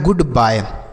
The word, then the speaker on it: goodbye: अब बी से पढ़ेंगे आपका ब, वाई का उच्चारण आय होगा, और किसी भी शब्द के लास्ट में ई रहेगा तो उसका उच्चारण नहीं होगा। तो यह लिखा है गुड बाय।